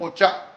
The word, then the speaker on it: お茶: The final course, Daifuku Manju and Ocha. Oh, How's my pronunciation? お茶。